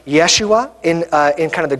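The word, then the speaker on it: ישוע: the air more so like it would be pronounced Yeshua in in kind of the Greek and Aramaic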